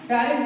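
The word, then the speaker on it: ptyalin: टायरिन को इंग्लिश में T silent होता है, ध्यान है, टायरिन टी इसमें जो है साइलेंट होता है।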